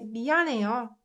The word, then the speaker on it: 미안해요: So no matter how much I try to pronounce this h, 미안해요, it gets muted because of n sound. So this one, you can pronounce it like 미안해요.